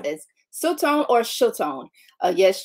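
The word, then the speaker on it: שלטון: The realm of power I have been assigned is pronounced as Siltone or Siltone. Yes, Siltone.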